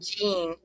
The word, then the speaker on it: Jeanne: I'm gonna I say want to say Jean. Jean. Yeah.